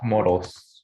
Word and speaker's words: Moros: It's Moros.